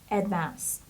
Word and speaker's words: advanced: the next word is advanced advanced this stress the stress is on the second syllable so it's Advanced and the Ed here we pronounce it like T Advanced it means highly